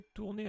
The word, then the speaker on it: tourner: Il fallait tourner à droite. Donc tourner, ça se prononce comme celui-là, mais c'est pas la même terminaison.